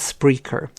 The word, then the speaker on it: Spreaker: And to spell that, it's S for sugar, P for parrot, and then R E A K ER. So, it's Spreaker. Some people put, you know, spell it incorrectly, but it's spre.